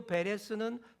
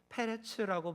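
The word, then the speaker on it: פרץ: 인간의 힘, 능력 위험 그리고 베레스는 페레츠라고 발음하는데 친다라는 뜻입니다.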